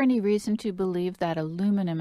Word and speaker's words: aluminum: Is there any reason to believe that aluminum, and I'm going to persist in my American pronunciation, I welcome your British pronunciation, is there any reason to suspect that aluminum is involved in breast cancer?